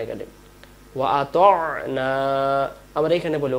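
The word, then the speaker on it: وَأَطَعْنَا: তাহলে আমরা বলবো ওয়াকালু সামি'না, না গেলে ওয়া আতা'না, আমরা এখানে বলি ওয়া আতানা। আমরা যদি এখানে ওয়া আতানা পড়ি, ওয়া আতানা, তাহলে এখানে উচ্চারণ ভুল হয়ে যাবে।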